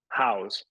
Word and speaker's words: Howes: I never know how to pronounce his surname. House.